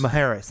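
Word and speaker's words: Mujeres: In Maharis. Maharas. Thank you. The J the J is the J is an H, right? Yeah. Yeah. Like Jose or Jalapeno.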